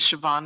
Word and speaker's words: Siobhan: My name is Siobhan. Siobhan is spelled S I O.